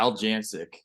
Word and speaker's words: Aljancic: Yeah, Aljancic. Aljancic.